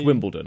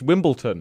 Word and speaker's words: Wimbledon: all done my bad I get so many Americans saying that oh it's Wimble turn it's like no it's it's not I don't know if that's